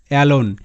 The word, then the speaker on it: alone: এবং তারপর ভাওয়েল আছে, তবুও কিন্তু এখানে এ এ হিসেবে উচ্চারিত না হয়ে অ্যা হিসেবে উচ্চারিত হচ্ছে, অ্যালোন।